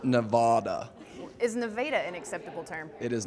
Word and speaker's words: Nevada: from we are team Eniro Haven from Reno Nevada representing UNR and what does nirro Haven do